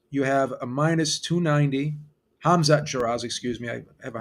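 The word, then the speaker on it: Hamzah Sheeraz: With Hazat Shiraz, you have a minus 290. Hamzat Shiraz, excuse me. I have a hard time pronouncing that name sometimes.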